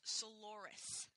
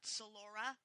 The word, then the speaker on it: Soloris: Lust's alias is actually pronounced Soloris, not Solora, so that counts as a mistake.